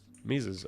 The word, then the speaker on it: Mises: This uh is it Mises? I feel like I'm butchering his name. You're looking at how to pronounce his name over there. Austrian economist in German it said that as Luton Mises Mises okay uh for Mises this is a static